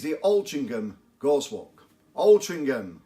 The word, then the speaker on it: Altrincham: OL Chingam Gauss walk Altrincham everybody pronounces it with a G but it actually adds